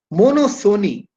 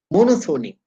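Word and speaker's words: monopsony: means seller two sellers mono Sony p is silent mono means one Sony means buyer one buyer mono Sony oligo Sony p is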